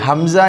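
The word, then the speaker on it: همزة: இப்பொழுது இந்த அலிபை நாம் அலிப் என்று சொல்லக்கூடாது. இதை ஹம்ஸா என்றுதான் உச்சரிக்க வேண்டும். ஏனென்று சொன்னால் அலிபிற்கு மேல் எந்த ஹரக்கத் வந்தாலும் அது ஹம்ஸாவாக மாறிவிடும். எனவே இதை ஹம்ஸா என்றுதான் சொல்ல வேண்டும்.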